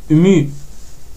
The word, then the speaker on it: mu: Et en majuscule, c'est le M qu'on connaît, mais ça se prononce mu.